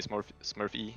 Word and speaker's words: Smurfe: In like Norwegian is like Smurfe. Smurfe, okay. But like when you pronounce it with English, it's like Smurf-E.